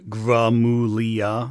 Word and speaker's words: Gramuglia: Also, for the record, you say my name, Gramuglia. The G is kind of silent, just to make it clarity, but good attempt, though.